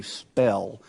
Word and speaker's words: Spoehel: Spoehel. Okay, thank you, sir. Right. Pretty much phonetically how we would pronounce S-P-E-L-L. Oh, spell.